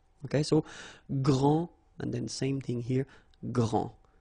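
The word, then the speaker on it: grande: you don't the day here and you don't pronounce the final s okay so gr and then same thing here gr and regarding the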